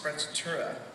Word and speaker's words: sprezzatura: One of my favorite absolute words is a German word, and it's pronounced sprezzatura.